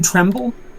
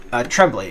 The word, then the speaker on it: Tremblay: Pen Tremble? Or did I misspell that? Tremblay. It's Blay at the end.